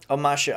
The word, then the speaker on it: Omashu: of ASU the Earth Kingdom City of omashu omashu okay I did pronounce it right cool we don't have cities